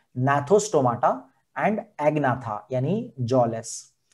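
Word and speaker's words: Gnathostomata: Some are with jaws, तो उसे नाथोस्टोमाटा भी कहते हैं। तो जॉ वाले नाथोस्टोमा, आपको ये वर्ड पता होगा, ये एन से प्रोनाउंसिएशन है।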